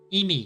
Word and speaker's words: 意味: 意味 Imi.